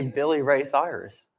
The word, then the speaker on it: Billy Ray Cyrus: Why don't you just say Billy Ray Cyrus?